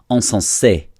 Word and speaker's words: insensé: So this is not incense. This is insensé, not encens.